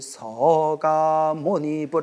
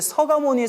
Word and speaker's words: 석가모니: 그래서 가끔 절에 오래 안 다니신 분들이 스님들이 이렇게 서가모니불 서가모니불 하면 석가모니불인데 왜 서가모니 서가모니 하냐 이렇게 딴지거는 분들인데 그 몰라서 그래 알겠죠 예 원래 발음은 서가모니라고 이렇게 발음을 옛날부터 그렇게 발음을 그렇게 했대 서가모니 아시겠죠 예 석가모니불께서는